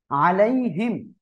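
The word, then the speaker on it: عَلَيْهِمْ: আলাইহিম, এই যে ইয়া সাকিন ডাইনে ডাবল লিনের হরফ, নরম করে তাড়াতাড়ি পড়তে হবে।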